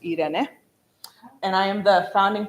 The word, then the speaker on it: Irene: So it's spelled like Irene, but pronounced Irene.